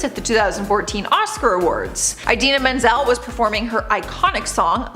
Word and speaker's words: Idina Menzel: said something completely different he announced her as Adele design her name is Idina Menzel he did apologize to